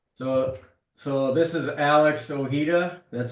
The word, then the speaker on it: Ojeda: So, so this is Alex Ojeda. That's how you pronounce your name, right?